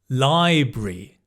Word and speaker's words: library: Actually, you can also say library. Library. We do say that, but more often than not, I would say library. So, I'd move I'd kind of swallow the A and the R and just have library.